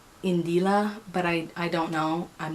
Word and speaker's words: Indila: I believe that her name is pronounced Indila, but I don't know.